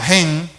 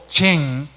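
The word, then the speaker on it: חן: Las palabras hebreas que más se acercan al concepto charis del Antiguo Testamento son 3. H-E-N, o sea, gen, o chen, tanto se puede pronunciar de una manera como de la otra.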